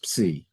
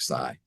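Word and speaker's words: psi: letter they use that's called they call it sigh. Proper Greek pronunciation is C. But if you're in if you're in a sorority or a fraternity, you're going to call it sigh.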